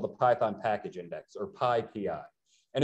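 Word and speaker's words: PyPI: a place called the python package index or pi pi and it's important to say pi p i when we pronounce it because pi pi is actually something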